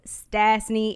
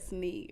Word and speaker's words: Stasseny: So mine has 3 syllables. South Austin street is 2. Just to throw that out there. Yeah, you're like, let me put the facts. I think he said Stasseny earlier.